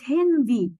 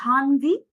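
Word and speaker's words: Handy: طب أنا مش عايز تليفون وعايز استعمل كلمة تانية زي كلمة هندي، هي مش هاندي اللي بيستعمل قواعد نطق، واقول لك قواعد النطق اغلبها ما بتطبقش اصلا عشان الجلطات. مش هاندي نوما، اسمها هندي.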